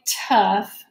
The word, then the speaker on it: tough: are we're gonna be working with the F sound at the end of the word but it's spelled with a GH so when we do